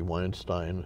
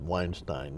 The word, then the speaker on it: Weinstein: Weinstein, when I knew him, by the way, he pronounced it Weinstein, not Weinstein.